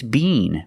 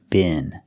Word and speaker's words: been: If you're in England, it's bean. But if you're in America, it's bin. It's pronounced differently in America. So this word has the short I sound like this is.